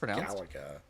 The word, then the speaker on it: Galaga: wash jeans Galaga at the Pizza Hut it's pronounced Galaga Galaga it's pronounced pza I know what that